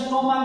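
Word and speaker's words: stomach: তারপরে দেখো বলছে সি এইচ সাউন্ড লাইক কি, মানে হয়তো যারা কি বলছে সি H sound like adding S, অর্থাৎ কি আছে স্টমাক যদি লিখি তাহলে কি হবে?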